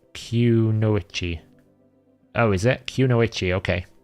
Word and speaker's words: Kunoichi: Kanoiki is pronounced Kunoichi.